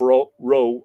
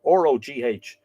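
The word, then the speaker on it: Rogh: And Fergus, son of Roe, R-O-G-H, you would imagine Rog, Fergus MacRoe, who was at that time king of Ulster, asked his mother Ness in marriage.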